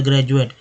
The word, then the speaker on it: graduate: जैसे एक वर्ड ले लीजिए ग्रेजुएट में, GRADUATE में जो डी का उच्चारण ज के रूप में, तो ग्रेजुएट।